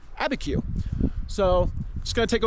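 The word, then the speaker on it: Abiquiú: Yes, I finally found some people from New Mexico and asked them how to pronounce that town. Abi Q IU. Abeku.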